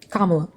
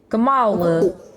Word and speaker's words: Kamala: Kamala. Sorry, I fucking listen to these fucking Republicans all day say her name wrong, and then I say it wrong. You're good. I think with the accent, Kamala.